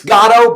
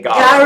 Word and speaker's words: Garo: It's Garo, but I know who you're talking about when you say Garo, so it's fine.